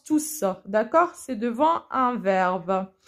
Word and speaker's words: tous: a un sens collectif, soit on le met au pluriel et on prononce le S. C'est le seul cas où on prononce tous.